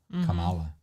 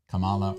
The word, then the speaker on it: Kamala: her name but like they say it differently on the news all the time Camala or Kamala I hear and they're both right because like I've heard